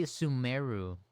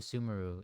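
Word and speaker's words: Sumeru: Oh yeah, they say sumemeru instead of summeru.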